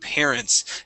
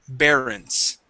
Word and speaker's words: parents: Okay, and our last word here is the word parents. Instead of parents, it's pair, parents. Parents. Okay, give me a P sound. Pair, parents. Parents. Okay, very close. Here you're pronouncing a B, saying bear, barons.